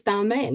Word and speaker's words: Dalmayne: How do you pronounce your name? It's Dalmayne, isn't it?